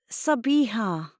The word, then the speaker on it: Sabiha: It was the easier option because most Australians had to be taught to pronounce the H in my name.